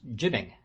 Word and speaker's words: jibing: derivation of the term jibing g-y-b-i-n-g or jiving j-i-b-i-n-g as is sometimes felt though it used to be pronounced jibbing it would be well